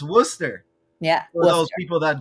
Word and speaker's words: Worcester: right I'm it's pronounced Worcester yeah for those people that don't know it's not Worchester like the sauce this is Worster right and the other